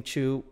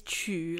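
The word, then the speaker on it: 曲: It's qu, like jiu qu, and huangjiu, like yellow.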